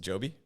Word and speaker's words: Joby: Was it Joby? Yes, Joby. That's how they say it where they are. But in a lot of countries say it differently, I guess, pronounce it differently. But proper is Joby.